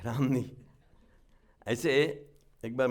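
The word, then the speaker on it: Romney: को ऐसे vice president रोमनी थे तो रामनी अमेरिका का स्टाइल रामनी हम लोग जो इंडिया का प्रोनाउंसिएशन रोमनी होता है यहां Ramani go straight that down with other ऐसा करके वो एक्शन करते हैं।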